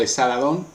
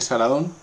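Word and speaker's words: Asarhadón: Y la sucesión pasó curiosamente no al hijo mayor, sino al hijo menor, a Saladón o Esaladón, según se escriba. Normalmente se pronuncia Saladón.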